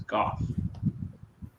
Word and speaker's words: Gough: It was Gough. Like cough, but with a G.